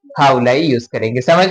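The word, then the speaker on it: هؤلاء: और इसका प्रोनाउंसिएशन हाउलाई।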